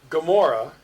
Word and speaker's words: Gomorrah: In Hebrew, you'd pronounce it like in the back of your throat. Best illustration is Gomorrah is actually spelled Gomorrah, not with the Hebrew G.